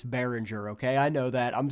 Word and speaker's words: Behringer: It's not Bayinger, it's Behringer.